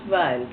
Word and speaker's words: Weil: My maiden name was Weil, W-E-I-L. Weil. Oh, Wheeler. Weil. Is that Here Wheeler? they pronounce it Weil.